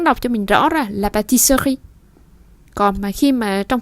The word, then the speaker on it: pâtisserie: Và mình đọc sơ khi được rồi thì sri thì mình vẫn nghe được âm sờ và âm r.